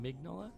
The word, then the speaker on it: Mignola: Mignola.